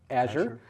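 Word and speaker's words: Azure: into court on or Siri how do i pronounce AZ you re and she'll say Asher Louise is the same way this is the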